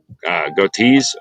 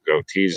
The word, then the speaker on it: Goetze: So it's Dave Gotees, I believe is the right way to say it, or Major Dave, but it's David, and then it's Goetze.